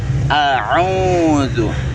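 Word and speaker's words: أعوذ: Jadi memang ada kesalahan dalam pengucapan zu, dan sering saya dengar mengucapnya malah ke huruf ja.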